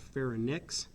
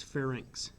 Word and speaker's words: pharynx: that that is spelled it's not fair and nix its pharynx okay now from the